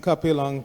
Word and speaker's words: Kapila: There are three syllables, kapila. You have to pronounce all of them.